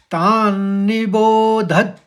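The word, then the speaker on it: तान्निबोधत: है तो लगाएंगे द तो इस शब्द को ऐसे पढ़ा जाएगा तान निबो धत हल्के से ध के आगे द लगा देंगे तो द हलंत में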